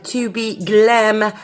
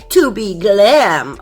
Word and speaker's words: tobe Glam: So I also want to work with my new tobe Glam polygel. I am so sorry, in my unboxing video I was pronouncing it wrong all the time, but it is tobe Glam, okay? Tobe Glam.